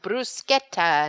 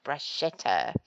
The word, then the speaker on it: bruschetta: For example, pistachio is pistacchio, mascarpone, mascarpone, and bruschetta, not bruschetta.